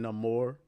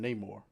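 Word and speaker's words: Namor: like the fact that he pronounces his name no more like that was a little bit overblown in my opinion especially considering the fact that everybody in the movie calls him Neymar he said I'm too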